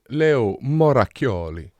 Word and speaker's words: Moracchioli: So I'm half Italian. My father is Italian, and it's pronounced Leo Moracchioli. Moracchioli. And you have to do the hands because it's Italian.